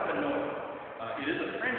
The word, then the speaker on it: Faneuil: Either of those pronunciations, you commonly hear Faneuil or Daniel. That's what I say. A lot of folks say Faneuil, or I'm saying Panel. Originally, it's really something like Faneuil.